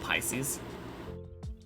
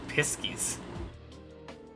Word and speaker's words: Pisces: It's pronounced Pisces. Somehow you thought it was Piskies.